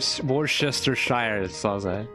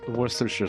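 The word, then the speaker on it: Worcestershire: wor I remember that I used to pronounce it worchester but now it's pronounced worers worersher sauce worersher sauce worers.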